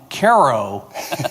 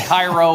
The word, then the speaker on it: Cairo: Uh thank you for correctly pronouncing my hometown Ko, Illinois correctly. So many people get it Cairo or Cairo or whatever.